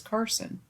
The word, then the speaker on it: Cars: because my name is Carson. Okay. It's not pronounced like the plural of cars, the vehicle. It's pronounced like you're just cutting off the on part of Carson.